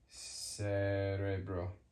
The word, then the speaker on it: cerebro: it's a hard kamar soft what does it sound like soft um Cerebro brain. Sounds like sro sounds like letter essay. Cerebro.